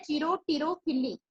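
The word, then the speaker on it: chiropterophily: Ornitho जो birds के through pollination perform होता है, तो बिगोनिया, जो बिग्नोनिया इसमें एग्जांपल है, ये है चिरो, यहाँ पी साइलेंट है, चिरोटिरोफिली, तो ये बैट्स के थ्रू, जो बैट्स पॉलिनेट करती हैं।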